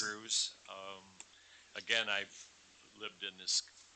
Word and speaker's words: Grues: Next speaker, Grues. Welcome. Did good with that. Not many people do. Last name. With my name, My name is pronounce it. Grues.